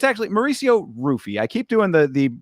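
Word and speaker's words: Ruffy: me this is Mauricio hoofy versus King Green it's actually Mauricio rufy I keep doing the the the uh Portuguese pronunciation but he pronounces it with the r and it's not even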